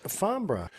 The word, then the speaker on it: Farnborough: Now, this gent I haven't seen since Farnborough. You note how to pronounce that, please, Jeff?